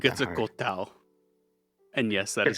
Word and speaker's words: Quetzalcoatl: Quetzalcoatl. And yes, that is how you Quetzalcoatl.